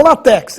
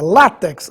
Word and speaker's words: látex: tórax ifen abdomen látex e não latex é látex agudo no ar paroxítona terminada em x Ônix a pedra preciosa